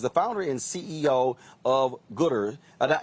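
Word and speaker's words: Goodr: founder and ceo of gooder uh is it is it gooder g-o-o-d-r is that what house pronounced right okay so you decided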